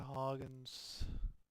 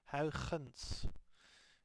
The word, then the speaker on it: Huygens: They run away to Huygens. Huygens. Actually, I'm Dutch, so I know that the actual correct pronunciation of that name is Huygens.